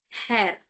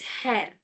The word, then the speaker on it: Herr: male, for a male person, basically you use Herr. Herr. Don't say her. It's Herr.